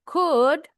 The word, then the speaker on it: could: Nah, jadi diingat-ingat untuk could, would, should. L-nya silent, O-nya silent.